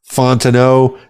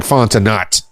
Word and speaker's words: Fontenot: forward slash dot Fontano f-o-n-t-e-n-o-t so it looks like fontanat so but pronounce it Fontano.fontano dot music so